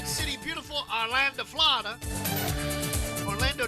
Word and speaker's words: Orlando: city beautiful orlando florida orlando does not have three a's but some people pronounce it that way 68 78 clouds and